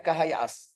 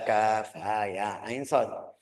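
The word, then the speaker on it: كهيعص: eh ucapan Arab betul bisa baca kahaias dia baca kahaias mereka ketawa-ketawa kamu profesur tidak bisa baca al-qur'an ya harus bacanya Alif Kaf ha ya ain Shad ha mim Ain Sin Q dia bacaannya HAM asak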